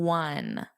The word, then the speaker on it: one: So I add this n sound because the e is silent for pronunciation.